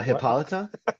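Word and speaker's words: Hippolyta: Uh, Hippolita.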